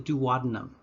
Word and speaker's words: duodenum: the wall of the duodenum or if you want to use the i think more fun british pronunciation the duodenum the duodenum or duodenum